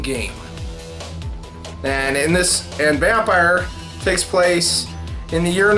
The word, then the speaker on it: Vampyr: right all right it's it's technically it's just pronounced vampire not vamp here Bethany confused with that